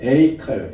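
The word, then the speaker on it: איכה: 히브리어 발음이 에이카예요.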